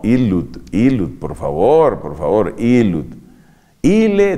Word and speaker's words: ille: Ille dixit, claro, porque es ille, ille, doble L. No vayas a decir ille dixit.